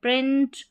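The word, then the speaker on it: pray: यह है print proud ओ यू डी आउट। पी यहां पर ए वाई है। इसको ए पढ़ते हैं। तो यह प्रे बन गया।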